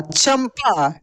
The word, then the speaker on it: चंपा: यहाँ पे देखिए, च के ऊपर बिंदी है तो चम और पा, चंपा। क्या पढ़ेंगे दोस्तों? इसको हम लोग चंपा।